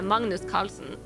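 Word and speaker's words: Magnus Carlsen: we do not do well internationally either yeah Magnus Carlson he's Norwegian that's like it's literally it's pronounced Magnus Carlson in in Norwegian that's how his name is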